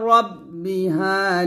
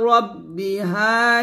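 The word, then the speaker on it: رَبِّهَا: হবে আবার তারপর রাব্বি বলবেন না মোটা করে মোটা হবে ইলা রব্বিহা নাহ জের জি হবে না জি বললে কিন্তু জালের উচ্চারণ হয়ে যাবে বলতে হবে এভাবে আর মোটা করবেন এভাবে ইলা রব্বিহা নাহ নাহ আবার বলেন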